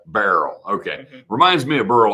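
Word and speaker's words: Beryl: what's the proper pronunciation it's not Burl right how how are they saying that that barl okay reminds me of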